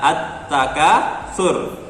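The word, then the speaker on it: التَّكَاثُر: takasur, menjadi at-takasur, dibaca at-takasur ya, at-takasur. Jadi lamnya dianggap tidak dibaca, dianggap tidak ada, langsung ke huruf ta karena ditarik dengan tanda harokat tasydid, langsung ke atta bukan alta ya.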